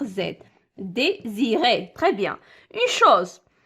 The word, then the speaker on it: chose: ديزيري تري بيان اون شوز اون شوز كيما كتسمعوا كتكتب اس وكتنطق زد يعني جات اس ما